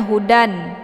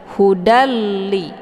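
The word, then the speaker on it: هُدًى لِّ: Ini ada tanwin fathah bertemu dengan lam. Dia merupakan huruf idgham bila ghunah. Jadi kita enggak boleh lagi bacanya hudan ya, jangan dibaca hudan lil muttaqin. Jadi tanwin ini ataupun bunyi n ini dibuang ya. Jadi kita langsung aja buat tasdid ke sini. Hudalli. Jadi tanwin ini sama artinya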